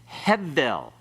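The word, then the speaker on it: הֶבֶל: Hevel. Everyone pronounce it?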